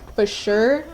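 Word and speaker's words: Fisherrr: my head it's called Fisher it's the remix with ice spikes but it's supposed to be pronounced like for sure like cuz it's like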